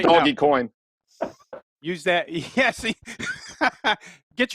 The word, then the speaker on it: Dogecoin: you can run that pronounced doggy coin use that yeah see